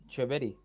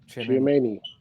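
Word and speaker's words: Tchouaméni: young boy that no one knows how to pronounce his name. Chouameni. Don't debunk my theory, bro. Just pronounce his name properly there and then. Yeah, him. Who? Say it again, OTC. Chouameni.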